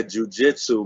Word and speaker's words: jiu-jitsu: How do you pronounce it? Jiu-jitsu? Yeah, jujitsu, man.